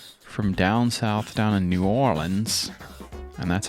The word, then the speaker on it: New Orleans: these guys from from down south down in new orleans and that's how you say it they came